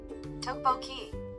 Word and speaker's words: tteokbokki: Tatiokoboki? Hold on, I'm gonna learn how to pronounce that.